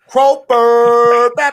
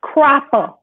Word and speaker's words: Cropper: One time for the one time, Miss Carissa Croper. You always with the... I thought I said Croper that time. Didn't I say it right that time? Okay, babe, look, it's Cropper. Like a sharecropper.